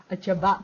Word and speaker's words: Chabad: Here in Stanford, I've been going to a Chabad house, or Habat house, I think it's pronounced, learning about Orthodox Judaism.